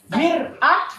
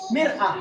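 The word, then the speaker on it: مرآة: Mir'ah dengan mar'ah. Baris bawah dengan baris atas.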